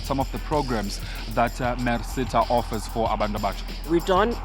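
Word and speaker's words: MERSETA: even know how to say it it's actually mercita it stands for manufacturing engineering and related Services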